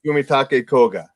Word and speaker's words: Fumitake Koga: Kellen, you were wondering about the names Ichiro Kishimi and Fumitake Koga, the authors of that book. I love it. That's how you pronounce the Japanese.